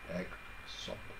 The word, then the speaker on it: EGSOP: It sounds a bit like egg soup, so I call it, this is a new soup in the market, egg soup. It represents EGSOP, I repeat, EGSOP, pronounced EGSOP or EGSOP.